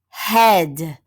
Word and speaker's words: head: listen for the sounds head ah duh remember this EA is going to stand for short e H EA D head good let's try another one